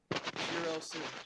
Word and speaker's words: Shirosu: So, Shirosu. Okay. Kind of like Shiro in Long Horizon, and then add a SU.